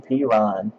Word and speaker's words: Perine: They actually do pronounce his last name Perine.